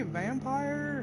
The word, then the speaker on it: Vampyr: I think that's how it's pronounced Vampyr as far as I know. It could be vampire, however you want to pronounce it. I'm gonna call it Vampyr because there's a missing E and there's no I.